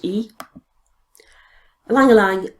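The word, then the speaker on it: ylang-ylang: we have a landline Alang Alang spelled why pronounced e Liang Liang I think of as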